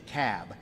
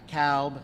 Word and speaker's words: Cobb: the room it's the cab not the cowb not the cobb it's the cab so we got to pronounce these things doherty another one of those where albini is they're 74.